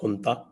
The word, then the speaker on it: junta: अब ये यहाँ का जो इंटरनल जो झगड़ा चल रहा था, इनकी जो जुंता है, JUNTA प्रोनाउंस एज हुंता, तो ये इनकी जो